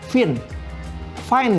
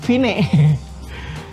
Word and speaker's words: Vine: HP sekarang ada tiktok sebelumnya ada fine-fine ya bacanya Ya Vine ada Vine atau fine